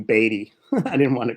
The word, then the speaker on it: Beaty: want to correct him everyone says bd because it's uh that's how you spell it you know like b e a like beat yeah also all right gentlemen dave say his name is baby he's not beating his baby all right sorry baby